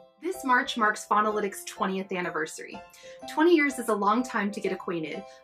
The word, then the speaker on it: Faunalytics: It's pronounced Faunalytics. Faunalytics.